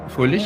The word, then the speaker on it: Fröhlich: Yeah, Fröhlich.